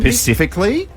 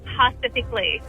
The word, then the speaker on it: specifically: Specifically, it's specific. Yeah. Okay. I would always say Pacifically.